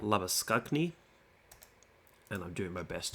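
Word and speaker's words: Labuschagne: just say whatever's easiest so not lab oisin but love a skug knee and I'm doing my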